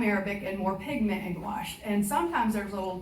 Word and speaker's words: gouache: So anyway, so gouache is pronounced like squash.